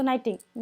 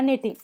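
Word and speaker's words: knitting: तो एन बाद में आ रहा है, तो के का प्रोनाउंसिएशन यहाँ पे नहीं करेंगे, किसका करेंगे, एन का करेंगे, तो नाइटिंग या निटिंग।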